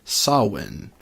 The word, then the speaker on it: Samhain: that it apparently that correct Gaelic pronunciation is saw win' even though it's spelled sa ma che i